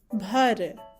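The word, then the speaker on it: भर: The bold one, the forceful version of boy sound, that is b, bh, bh, and then red r joins together to sound like bhar. We pronounce this as bhar.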